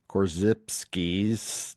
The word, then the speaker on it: Korzybski: Korzybski.